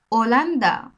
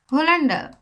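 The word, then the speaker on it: Holanda: এইচ এর Spanish ভাষায় মূলত এইচ এর উচ্চারণ সাইলেন্ট থাকে নিঃশব্দ থাকে যখন কোন ওয়ার্ডের মধ্যে শব্দের মধ্যে এই বর্ণটা আসে এইচ বর্ণটা আসে তখন এইচ টা সাইলেন্ট থাকে তার মানে হলো তার উচ্চারণ হয় না দেখেন উদাহরণ দিলেই বুঝতে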